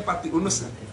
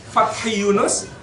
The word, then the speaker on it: Fathi Yunus: Fattah Sultan Fathi Yunus kita suka bacanya Fati Unus Fathi Yunus dan Sultan trenggono tiga